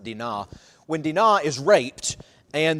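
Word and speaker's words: Dinah: CH 34 when uh I call her Dino but it's pronounced daa when Dena is raped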